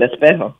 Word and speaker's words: Espejo: and just what the songs are about, like Espejo. I guess I'm saying that incorrectly, but it's mirror. Pretty good. Espejo.